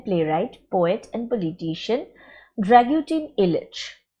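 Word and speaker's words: Ilić: Actually, the pronunciation is Posle Million Godina, After Millions of Years, by Serbian playwright, poet, and politician Dragutin Ilic. This particular C is pronounced as the sound ch.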